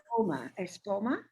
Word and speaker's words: Espoma: Espoma? Espoma. Yes. Okay. Good. I want to say it like Epsom salt, I think, because it has similar letters, but it's different.